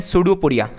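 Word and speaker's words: pseudopodia: उस प्रोसेस को कहते हैं, धीमे धीमे जो प्रोसेस को अंदर खाना लेनी है उसे कहते हैं सूडोपोडिया। पी साइलेंट है इसके अंदर, तो ये हमने देखा अमीबा का अंदर, राइट।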